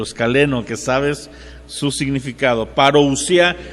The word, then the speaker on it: parousia: que sabes su significado parousia así como suena p a r o u s i a parousia algunos lo pronuncian parousia